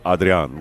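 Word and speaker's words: Adrián: people would be like his name's Adrian Gonzalez it's not Italian but it is Audrey on Gonzalez but I'm not gonna say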